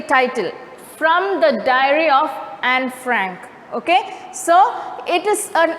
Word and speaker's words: Anne Frank: suggests it's anne frank actually e is silent over there it's not annie frank it's anne frank okay so now the